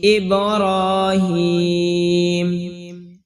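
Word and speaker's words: إبراهيم: টান হবে কোন টান হবে না ওয়ালা আলি ইব্রহিম এ আলিফ টান হবে জবরের বাম পাশে খালি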